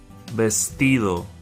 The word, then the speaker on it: vestido: Vestido. The V sounds like a B, has the B sound.